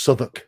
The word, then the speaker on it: Southwark: It's pronounced Southwark. It's on the edge of London. Southwark. Southwark. Suffolk? Southwark. No. It's a th. No, that's a different place. Okay, yeah, I know. Okay. It's a th Southwark.